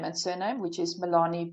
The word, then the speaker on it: Melanie: and surname which is Milani I'll spell it for you now. so m e l a n i e like Melanie but it's the Africans version obviously and then my surname